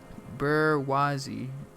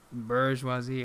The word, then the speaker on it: bourgeoisie: Bourgeoisie.